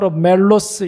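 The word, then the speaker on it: μέλος: 단어가 바로 지체라는 말이에요 헬라 멜로스 이렇게 발음을 하는데이 말의 뜻은 체라는 뜻입니다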